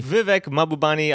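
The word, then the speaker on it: Vivek Mahbubani: Vivek Mabubani. I will pronounce it myself because you guys can't do it right every time.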